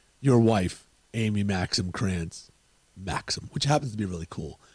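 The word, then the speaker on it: Crantz: never get it right they're like grant grants this that the other thing they spell it with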